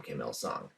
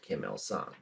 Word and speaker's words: Kim Il-sung: Kim Becoming the Sun, both of which are pronounced Kim Il-sung.